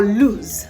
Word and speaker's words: lose: Now for lose, the L-O-S-E, you have Z as the last consonant sound.